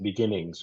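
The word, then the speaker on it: BeginNGS: called begin NGS and I think you you pronounce it Beginnings right which is a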